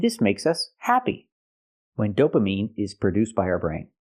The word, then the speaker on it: dopamine: produced by our brain the word is not pronounced dopamine it's pronounced dopamine I have to use the long e sound like green beans dopamine not dopamine not I